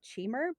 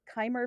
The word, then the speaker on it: Chimer: written instead of pronounced i've always called it cheamer but kymer for some reason makes a lot of sense now that i'm hearing you say it so i'll just go